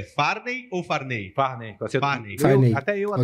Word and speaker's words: Farnei: Primeiro eu queria te perguntar a pronúncia. É Farney ou Farney? Farney.